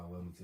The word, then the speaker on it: Wellington: The one that's right by Wellington.